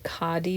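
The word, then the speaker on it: khadi: copy paper this is like a caddy paper it's spelled k-h-a-d-i that's what it looks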